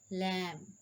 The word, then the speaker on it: lamb: b rule number one the letter b is usually not pronounced after m at the end of a word like com as i